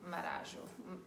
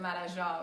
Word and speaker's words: Marajó: is used in Marajo, in this island called Marajo, which is how we say it in English, but Marajó, which is how they say it in Brazil.